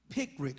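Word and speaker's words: Picric: send a check in the mail to 428 pick rick street uh brunswick georgia that's four to eight pick rick street that's hard to pronounce but let me spell it it is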